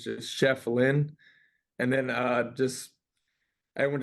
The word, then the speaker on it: Schieffelin: uh people really just didn't know how to pronounce my last name and it's just Chef Lynn and then uh just everyone just started calling